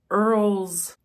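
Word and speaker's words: Errol: Aiden Aiden's father is Earl and I think that's how you pronounce his name it's e r r o l he's very rich Super Rich Earl's wife has been MIA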